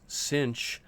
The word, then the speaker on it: sinh: Sometimes it's pronounced the cosh of alpha t, and the negative hyperbolic sine of alpha t, which is also sometimes pronounced sinh of alpha t, as we have shown over here.